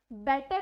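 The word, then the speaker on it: better: होता भी यही है बट उसकी जो करेक्ट प्रोनाउंसिएशन होती है वो ड से होती है, डी से होती है, डी बन जाती है उसकी करेक्ट प्रोनाउंसिएशन। लाइक बेटर को अगर आप हल्का सा डे दे के बोलोगे तो वो उसकी करेक्ट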